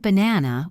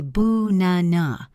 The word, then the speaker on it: banana: It sounds like In the word banana, we don't say ba-na-na. We say boo-na-na. The first and last A are weak.